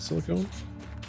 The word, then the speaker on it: silicon: Is that silicone? No, that's iron. That's silicone right there. Silicone. I've been saying it wrong this whole time.